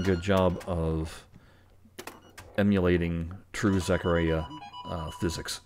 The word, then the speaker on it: Zaccaria: true zechariah uh physics or zechariah i know some people say zakaria but when i looked at the actual pronunciation on google it says it's a zak now the aria or urea that's a good question i don't know